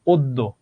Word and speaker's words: অদ্য: অদ্য, বাধ্য, কন্যা। শব্দের শেষে হোক মধ্যে হোক, যদি দুফলা জ ফলা থাকে, তাহলে সেই বর্ণটা দুইবার উচ্চারণ হবে।